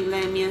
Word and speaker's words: Lamia: Lamias. It's pronounced Lamia.